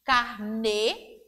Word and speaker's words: carnê: E o acento vai modificar o som, a pronúncia da palavra. E aí temos carnê. Observe que na última sílaba, no nê, tem um acento circunflexo. E na segunda palavra, aparece a palavra carne. A escrita é a mesma.